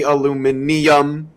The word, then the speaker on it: aluminium: Now see the thing with aluminium is that makes sense because if you look at all the other elements you've got sodium, roodium, titanium, lithium, burillium. So you would think it would be aluminium. So I mean that one kind of does make sense.